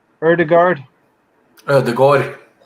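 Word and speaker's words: Ødegaard: it uh name correctly erdegaard uh the god it's actually an a with a circle on the top that's the or more sound more letters in the alphabet right about another three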